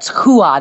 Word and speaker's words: Rua: Rodrigo pronounces as H. It's like Royce Gracie. So Antonio Rodrigo Nogueira, and that's why it's Hua, not Rua.